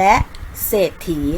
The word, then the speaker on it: เศรษฐี: นะ อารา ใส และ เศรษฐี ค่ะ ซึ่ง นะ คะ จะ ไม่ ออก เสียง ตัว รอ เรือ นะ คะ จะ ออก เสียง เฉพาะ พญา ชา ตัว หน้า คือ ศ. ศาลา ค่ะ ต่อ ไป นะ คะ